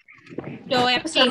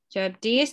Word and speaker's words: Coeptis: Jadi ini kan kemarin kita bacanya kan kayak CC kan? Itu ternyata O. Coeptis, oke? Coeptis, novus ordo, seclorum, ya.